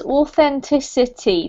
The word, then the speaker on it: authenticity: better this one is authenticity there's five syllables authenticity authenticity perfect and the last